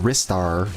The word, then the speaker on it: Ristar: Someone corrected me last week saying I was saying it wrong. It's but Ristar, not Rystar.